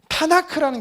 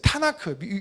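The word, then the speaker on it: תנ״ך: 유대인들의 정경을 타나크라고 해요. 우리는 성경이라고 말하죠. 타나크라는 게 어떤 의미냐면 토라, 느빔, 케투빔 이런 게 뭐냐면 이게 이제 앞에 자음을 따서 타나크라고 읽는 거예요.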